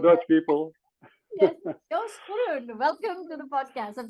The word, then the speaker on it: Groen: But my last name, Groen, is Groen. involving the G and the R in combination.